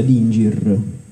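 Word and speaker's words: dingir: forma di stella per la cronaca i sumero si pronuncia di Inger era proprio una stella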